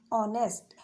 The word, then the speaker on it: honest: जैसे ऑनेस्ट, HONEST, यहाँ पर जो एच वर्ड है वो हमारा साइलेंट है, ओ की साउंड आ रही है, जो हमारा वोवेल साउंड